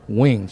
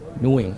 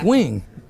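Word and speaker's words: Nguyen: in her good side this is how you pronounce her name it's wings she said she say they tell me that she told me that to pronounce her name mooing I say it's because you kept bastardizing her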